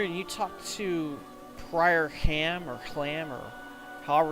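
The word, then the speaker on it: Hlam: you talk to Prior Ham or Clam or however it's pronounced, I mean it's spelled H-L-A-M, but I think they pronounced it Ham in one of the cutscenes, you'll be able to get extra experience points.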